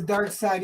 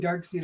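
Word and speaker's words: Darkseid: saying I'm saying s like you see how it's spelled s e and then I D S so it's dark s dark to this dark side I keep saying dark seed I don't know why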